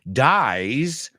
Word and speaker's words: dies: dies he dies so that's a z dies rhymes with flies rhymes with tries rhymes with size right so a little bit different there dies dies versus dice okay also there's another